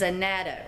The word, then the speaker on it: annatto: It's called okay, so the American version of the way it's pronounced is annatto.